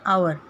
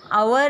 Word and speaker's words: hour: So, I will tick here alligator, umpire, then hour. See, hour is the word which starts with N. Why? Because H is silent in this word. Hour.